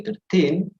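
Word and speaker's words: thirteen: a bit different actually so you say 13 with the stress in the team yeah but then he said 30.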